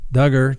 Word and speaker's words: Duggar: of hands i do dugger josh duggar rhymes with hugger that's right uh scott